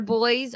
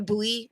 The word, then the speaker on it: buoy: have more buoyancy and it's pronounced buoy I've seen so many people that are like they uh they deployed sonar boys I'm like a buoy do you mean a